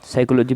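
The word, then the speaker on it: psychology: जैसे इंग्लिश में नहीं होता, हम पढ़ते हैं साइकोलॉजी में, जैसे पी साइलेंट हो जाता है, इसी प्रकार संस्कृत में भी ऐसे लोप होता है सूत्रों में से, उसका वास्तविक अर्थ निकालते समय।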